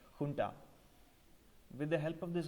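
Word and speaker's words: junta: write that as Ju NTA but it is pronounced funda with the help of this army he closed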